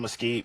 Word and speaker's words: Mesquite: Am I pronouncing that right? Mesquite, Texas?